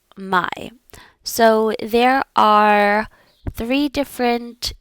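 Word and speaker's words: мой: So if you have a male noun, you are going to say my and this rhy rhymes with boy. My boy.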